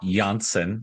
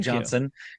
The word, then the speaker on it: Janssen: I know it looks like Johnson, and they did not put it on the pronunciation guide, which is not helpful, but I did get it confirmed from the man himself. He told me, no Janssen.